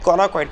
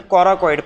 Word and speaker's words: coracoid: CID CARiD process sorry coloid process every time I made a mistake in its pronunciation it is a coracoid process and coracoid process also